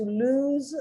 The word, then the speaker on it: lose: it's double o something to lose something one o and the s is pronounced like a z and it's a verb